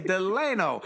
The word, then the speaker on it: Delano: And let me tell you folks, it's spelled D E L A N O, which would like Franklin Delano Roosevelt, but his parents said, "No, your name is Delano, not Delano. It's Deleno."